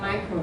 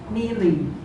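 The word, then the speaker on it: milli: do you pronounce this no it's not micro it's melee it's one thousand times difference it's actually a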